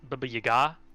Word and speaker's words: Baba Yaga: Pronounced Baba Yaga.